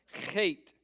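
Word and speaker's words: חית: Chait. Chait. Yep. It's that guttural CH sound.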